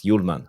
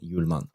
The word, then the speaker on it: Hjulmand: But besides that, as Mark mentioned, there's only one, and that's Hjulmand, Morten Hjulmand, or how they say it in Danish, Morten Hjulmand.